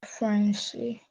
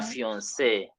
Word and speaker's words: fiancée: And we are told the pronunciation remains what? The same. So le fiancé becomes la fiancée. La fiancée.